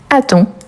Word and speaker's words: attend: Donc on a il attend. Donc vous voyez bien que j'attends, tu attends, il attend. Par rapport à la prononciation, c'est exactement la même mais on les écrit différemment.